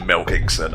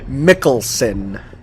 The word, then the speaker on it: Mikkelsen: I'm sorry I called him Milkingson. I don't know how to pronounce his surname. Mikkelsen. Just think of it like Mickle Mouse.